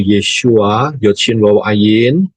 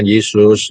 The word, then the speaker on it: Yesua: keselamatan yang benar yaitu yesuain yesua bacanya yesua bukan Yesus ya yesua Ya masuklah